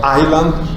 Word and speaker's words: Island: Castle, donc le S est prononcé, mais dans Island, il n'est pas prononcé.